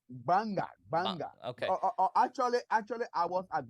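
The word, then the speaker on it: Gbarnga: Barngna? How do you pronounce your institution? It's Banga.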